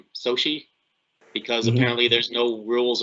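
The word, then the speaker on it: Xochitl: Her name is pronounced Sochi, because apparently there's no rules about what sounds letters make anymore. So it's pronounced Sochi Gomez, I believe.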